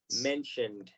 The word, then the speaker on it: mentioned: Aquí no se nos olvide que la ED se va a pronunciar únicamente como una D. Mentioned.